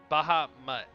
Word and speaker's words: Bahamut: on over to bahamut bahama gaming boohoo i i think it's always pronounced it's baja and then like mutt as in dog so bahama baja mutt yeah no he's a